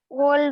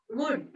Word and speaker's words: would: Would we? Would. L is silent.